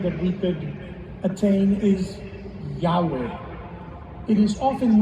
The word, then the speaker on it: Yahweh: In Hebrew, the letters are yud, he and closest pronunciation that we could attain is Yahweh. It is often mispronounced as Jehovah.